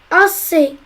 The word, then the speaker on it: assez: Assez. Il y a les deux voyelles A et E, donc on va doubler le S pour dire assez. Une discussion.